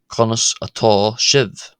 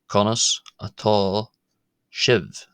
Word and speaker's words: Conas atá sibh: Um one will also hear then of course in the plural konos at shivv konos at shivv or konos to konis at shiv konis to conlis how are you to more than one person in monster.